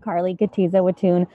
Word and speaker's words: Kotyza-Witthuhn: Representative Carlie Kotyza-Witthuhn, did I pronounce that correctly? How close did I get? Almost. Yes, I'm Representative Carlie Kotyza-Witthuhn.